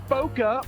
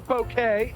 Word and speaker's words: bokeh: One is bokeh or bokeh, if you choose to pronounce it that way, is the blurry background.